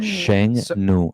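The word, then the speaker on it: 剩女: Sheng Nu.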